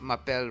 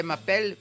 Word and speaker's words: m'appelle: Maybe it's the way she seemed to think Mapel rhymes with my apple. Sit down, Patty. Yes, Madame Bouvier. Right. Madame Bouvier.